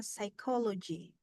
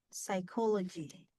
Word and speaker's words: psychology: Misalnya psychology. Psychology. Ya. Yang strong, stresnya adalah silabel kedua. Call. Ya. Psychology. Coba ya. Psychology. Psychology. Psychology. Psychology. Ya. Psychology. Yang ditekan tuh yang call-nya.